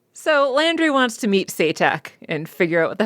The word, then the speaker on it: Se'tak: By calling him Satak, because I forgot that they had pronounced it as Satak.